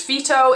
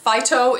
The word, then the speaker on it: Phyto: is the phyto line it's actually pronounced feto in French but it is said phyto in America uh this is a